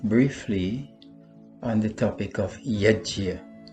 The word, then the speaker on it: यज्ञ: on the topic of Yajna. Sometimes Yajna is called Yagna or jug, but we should be mindful that the correct pronunciation of this word, based on the Sanskrit phonetic system, is yajna.